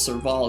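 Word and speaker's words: Serval: the electric girl was surval is how you say her name the heater you saw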